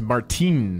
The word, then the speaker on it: Martin: my friend appreciate it martin is pronounced martin in holland martin's my last name